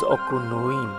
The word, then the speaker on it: Okunoin: the most famous in Japan so the correct pronunciation is aqua Lewin and indeed it is the most famous the